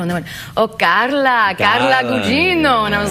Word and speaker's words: Carla Gugino: And I was like, "No, Carla, it's Italian, Carla Gugino." And they went, "Oh, Carla Gugino."